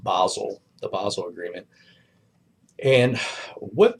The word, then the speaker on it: Basel: So if you see this here, it's not Basel. It's pronounced, well, it's actually pronounced Basel, the Basel Agreement.